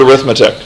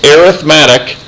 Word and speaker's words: arithmetic: normally we've talked about it as the word arithmetic when we're talking about a pattern of numbers it's pronounced arithmetic in terms of its pronunciation it's just a